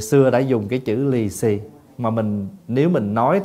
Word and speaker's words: lì xì: chữ là lì xì lì xì đó là mình phát âm theo tiếng Hoa bị gì cái cái